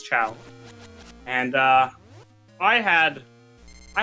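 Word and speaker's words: Chao: is the correct one chiao or ch I think it's chow and uh I had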